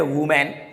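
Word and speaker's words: women: इसको क्या बोलते हैं इसको लोग बोलते हैं वूमेन जो की एक वूमेन का प्लूरल होता है लेकिन इसका जो सही साउंड होता है ये होता है वूमेन इसको बोला जाता है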